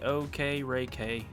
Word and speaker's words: Okereke: Alright, this is how it's pronounced. Bobby Okereke. Okereke?